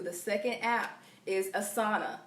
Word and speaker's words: Asana: The next one I'm going to get into, number 2, the second app, is Asana. That's spelled A-S-A-N-A.